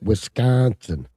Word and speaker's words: Wisconsin: Eau Claire Wisconsin, that's how you say it, Wisconsin. You've got to put the emphasis on the right syllable, Mikey. Smoke bike.